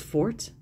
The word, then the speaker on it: Forte: There's no accent on the E, so I'm thinking it's just Forte.